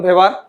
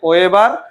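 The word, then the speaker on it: Weber: অস্থিগুলা আবিষ্কার করে বিজ্ঞানী, তোমাদের উচ্চারণে আসবে ওয়েবার, আর আমরা বলতেছি ভেবার। এখন কথা হচ্ছে ভেবার জার্মান বিজ্ঞানী। কোন দেশের বিজ্ঞানী? জার্মান। জার্মানিতে ডাব্লু থাকলেও উচ্চারণ হয় ভি।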